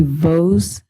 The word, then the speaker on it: Vos: Next up, uh, Vos. Did I say that correctly? Yeah, my last name gets mispronounced all the time. I usually say like Rose with a V.